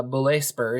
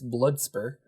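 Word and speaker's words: Bluetspur: island of terror uh blusper and i i think i'm pronouncing that correctly i looked it up um and it's not uh belay spur it's it's blood spur uh and this was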